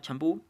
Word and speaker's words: champú: La palabra compás se separa en dos sílabas, compás. La palabra champú en dos también, champú. Y la palabra comité se separa en tres sílabas, comité.